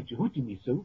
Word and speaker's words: Jehutimisu: We say Jehutimisu, that's the correct way to pronounce it, but Tutmosis III was the founder of the Rosicrucian teachings.